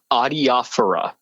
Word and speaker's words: adiaphora: even introduce the topic, how do you personally pronounce this word? Adiaphora.